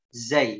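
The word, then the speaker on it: ز: Ya, contoh ya huruf, kita ambil contoh huruf zai, ya, huruf zai, huruf za. Ujung lidahnya diturunkan ke gigi seri bawah, ya, diturunkan ke gigi seri bawah. Za, ya, pengucapannya apa? Za, za, za, ya.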